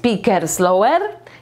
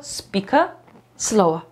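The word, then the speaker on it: speak slowly: go nauczyć spika slowa nie jest Pikers lower nie jest picaslowa tylko speaka slowa dajcie znać czy dla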